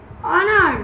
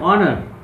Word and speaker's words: honor: So Tasin, can you say some words where ha is silent? Ha? Honest. Cool. Honest. Honest. Look. Honest. Honest. Then? Honor. Honor.